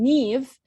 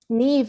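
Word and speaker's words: Niamh: pronounce their names so Neve is actually um spelled n-i-a-m-h which is nowhere near Neve and so if you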